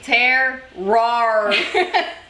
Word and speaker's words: terroir: Paul is saying terroir.